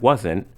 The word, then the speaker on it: wasn't: the rooms weren't clean notice that wasn't has two syllables but most people say weren't as one syllable wasn't dinner wasn't expensive weren't there weren't many people wasn't and weren't usually don't have a clear t sound at the end the t sound is cut off or disappears the weather wasn't